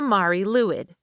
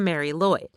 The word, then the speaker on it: Mari Lwyd: Well, that thing is the Mari Luid, which is commonly mispronounced as the Mary Lloyd.